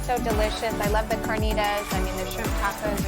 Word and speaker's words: carnitas: And Marianne, you gotta roll your R. It's carnitas.